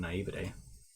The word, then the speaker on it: naivete: Getting covered in mud was the price I had paid for my own naivete. Naivete, that's how you say it.